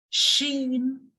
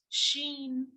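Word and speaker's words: Chine: Wall of China and we pronounce China in French as Sheen always remember that whenever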